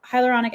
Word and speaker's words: hyaluronic: and dynamic in the skin but hyaluronic it's hyaluronic acid itself say that it's not right I